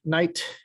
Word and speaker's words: night: We take the example of night, N-I-G-H-T, versus rough. You know, all of you here watching this understand that we've got a different sound at the end of this word than we do in the middle of this word. Here it's just nothing, and here it's f.